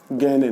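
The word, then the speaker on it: Gagné: गैने ने। गैने की जब स्पेलिंग लिखी है तो GAGNE, गैगने लिखा जाता है, लेकिन पढ़ा जाता है गैने।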